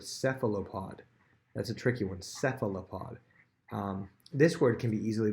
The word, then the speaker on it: cephalopod: That's a tricky one, cephalopod. This word can be easily broken down. First of all, it has a PH making an F sound, so it has to do with the pattern words.